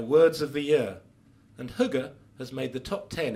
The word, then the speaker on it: hygge: This is how they suggest you pronounce the word. Hygge.